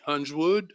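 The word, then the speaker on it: Huiswoud: In addition, a comrade named Otto Hunsword, his last name, H-U-S-H-U-I-S-W-O-U-D, Hunsword, I think it's pronounced.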